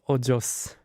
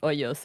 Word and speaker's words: ojos: El secreto de sus ojos. Ojos. Ojos. Because the way you pronounce it the first time, it means holes. El secreto de sus ojos. Here's the thing. Yeah. If you pronounce it as hoyos, it means holes.